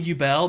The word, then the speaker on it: Yubel: Yubel, like bubble? Yubel? Is definitely Yubel, but you can pronounce it however you want.